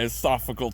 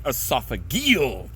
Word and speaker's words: esophageal: Had a little bit of that thick nasty fleg in my esophagical tract. Wait, I mean esophageal tract. That is how you pronunciate it correctly.